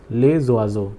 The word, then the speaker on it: les oiseaux: This is pronounced as les oiseaux. Because of the liaison rule, S will get connected to this O and the pronunciation will be zo.